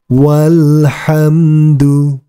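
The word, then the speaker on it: والحمد: ini dianggap tidak ada sehingga cara membacanya menjadi alhamdu alhamdu walhamdu walhamdu ingat huruf alifnya dianggap tidak ada kemudian kita lanjutkan ma'alhamdi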